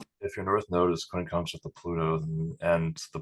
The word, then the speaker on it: quincunx: I was actually we're talking about the quincot or quincottle, I don't know how to pronounce it. Quincunx, Quincunx.